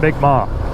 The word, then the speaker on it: Mi'kmaq: And it is pronounced Mi'kmaq for sure.